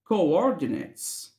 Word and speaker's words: coordinates: Coordinates.